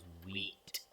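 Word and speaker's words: Vite: at our website which is made on react white react whe whatever you want to call it I like to call it white because generally is pronounced as wheat we okay so we have a client in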